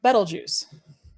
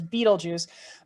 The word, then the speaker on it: Betelgeuse: temperature is the star betelgeuse i know many people mispronounce it as beetlejuice but no notice it only has one e right after the b so like the word bet so bet l so